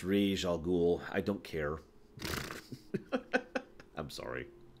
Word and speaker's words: Ra's al Ghul: brain flew off yeah I know it's pronounced rish al Ghul I don't care I'm